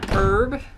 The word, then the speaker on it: herb: said that like oh it's so funny how you pronounce herb it should be herb or something but it's not wrong herb is just the British way to pronounce it and Australian way it's just it's not